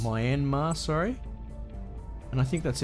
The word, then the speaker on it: Myanmar: pronounce it all right we'll go minma yeah people in place Myanmar sorry and I think